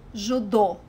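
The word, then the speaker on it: judô: Judo. The trick here is to put the emphasis on the last syllable. Judo. Judo.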